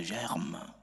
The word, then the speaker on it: germe: que j'aime le Sauveur tu ne prononces pas le R de germe ça c'est coup de